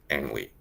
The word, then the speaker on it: Ang: say his name sort of correctly it's just angry and don't say only just angry now in